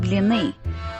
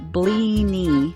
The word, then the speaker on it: blini: They're called blini, but I get that Google writes it blini. I can't even say it that way.